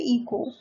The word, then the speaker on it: echo: ECO, ठीक है, आप पहले E लर्न करिए, फिर CH, फिर O, ठीक है, इको। इको में H जो है आपका साइलेंट है, ठीक है, तो आप क्या लर्न करेंगे ऐसे, ECHO, इको, ठीक है, प्रतिध्वनि।